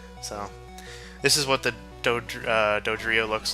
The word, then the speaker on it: Dodrio: So this is what the Dodrio looks like. I used to just call it like Doug, not like Doug Trio, but it's real close.